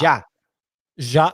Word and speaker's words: ya: How do you pronounce Y-A? Ja? Yeah. Ja.